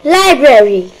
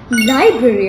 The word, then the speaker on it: library: How do you say library? Library, of course. Not library.